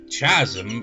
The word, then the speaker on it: chasm: what Chasm chm Chasm it sounds like it should begin with a k and not have a h at all but it begins with